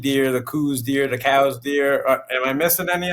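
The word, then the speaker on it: Coues: The Cow's white-tailed deer, which is how you pronounce it, Cow's white-tailed deer in Mexico and the Southwest, that genetically is different.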